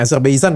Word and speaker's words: Azerbaijan: ada lagi kejadian di azerb Azerbaijan ya jadi Bacanya apa nih Azerbaijan ya benar ya Ee turun sampai menewas kan